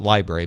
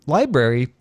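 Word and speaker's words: LBRY: I assume you pronounce it library but it's spelled lbr y says it has all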